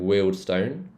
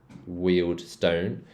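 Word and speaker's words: Harrow and Wealdstone: Northwick Northwick Park Kenton and then Harrow and weldstone wield Stone so in the Indian accent this will be pronounced Stone WI raled Stone this one's not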